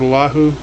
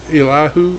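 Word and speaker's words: Elihu: know so next week we'll be starting with allahu ah i'm sorry if i'm pronouncing that wrong if you were able to pronounce it right and i come not but it's illahu e-l-i-h-u we'll be starting with his like i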